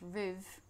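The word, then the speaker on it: ribh: From this Irish root word, we get the words rib, pronounced riv, meaning with you, to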